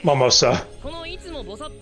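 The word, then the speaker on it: Mimosa: Momosa. Like the drink.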